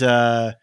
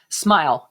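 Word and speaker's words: smial: These Smeal? Smile. SMIL. Yes, sorry.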